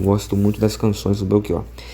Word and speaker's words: Belchior: Eu gosto muito das canções do Belkior. Eh, esse Belki, ele se escreve com ch. Então, lá para eles, eh, os portugueses, eh, deveria estar escrito com K, né?